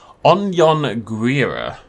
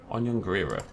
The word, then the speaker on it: Anhanguera: was very nice to include a pronunciation guide. Anhanguera. Anhanguera.